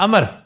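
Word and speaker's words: عمرو: ये उमरू नहीं है। अमर सर ये अमर और उमरू ये क्या चक्कर है? ये अरब नेम है ना उमरू। ऐन मीम रे वाव इसमें वाव साइलेंट है। अमर है ये और एक अमर अलिफ से है।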